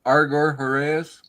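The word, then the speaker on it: Argor-Heraeus: Argor Heras.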